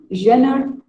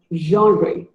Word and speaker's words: genre: It is not genre, not even genre. It is pronounced as genre.